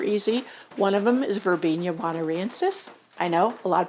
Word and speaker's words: Verbena bonariensis: One of them is Verbena bonariensis. I know a lot of people pronounce it Verbena bonariensis, another one of those things, and others that I have around.